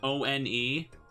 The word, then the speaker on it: one: makes no sense why why is it not pronounced own no we say one yeah I bet you